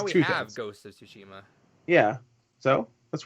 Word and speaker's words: Tsushima: That's how you pronounce the title. Ghost of Tsushima.